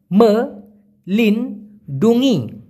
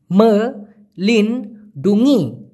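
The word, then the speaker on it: melindungi: করেছিলেন মালুন্নী মানে কিনডুঙ্গি উচ্চারণ করতে কষ্ট হলে আমার সাথে একবার বলুন তো মা লিন ডুঙ্গি মা লিন ডুঙ্গি মানে হলো রক্ষা করা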